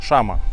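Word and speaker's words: llama: там в меню есть Лама Шама 2л поэтому читается как Шама так они её здесь называют В общем у нас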